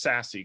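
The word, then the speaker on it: SASE: access services edge uh you'll hear it pronounced sassy quite a bit i would actually like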